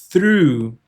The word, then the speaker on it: through: Mas a pronúncia correta é through. Ó, tem que ter o som do through, lembra que é a a língua entre os dentes, né?